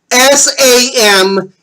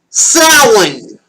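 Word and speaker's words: Samhain: Today for our first topic I'm going to spell it out for you. S A M H A I N also pronounced sin.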